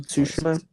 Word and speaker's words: Tsushima: awesome it just reminds me of ghost of tsushima am I saying that right ghost of tsushima yeah okay I've always said it like that